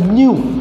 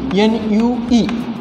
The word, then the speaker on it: nu: That kinematic viscosity is indicated by Greek symbol, that is called as nu, N-U-E, which is ratio of dynamic viscosity to rho. It is pronounced as M-U-E, M-U-E, mu, dynamic viscosity.